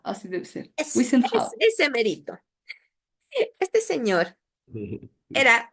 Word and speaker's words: Wiesenthal: No quiero pronunciar mal. Sí. Wiesenthal, así debe ser. Es Wiesenthal.